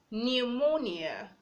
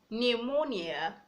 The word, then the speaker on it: pneumonia: We have pneumonia, pneumonia. The P is silent.